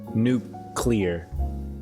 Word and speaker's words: nuclear: to pronounce well no i know it's like a nuke nuke clear okay i see what